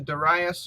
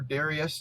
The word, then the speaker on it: Darius: All right, so this piece of art, this is actually the Darius or Darius, depending on how you want to pronounce it, treasury relief.